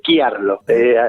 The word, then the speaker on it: Chiarlo: Es Chiarlo, bien pronunciado.